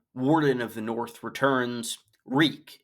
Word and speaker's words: Reek: Reek. It rhymes with freak.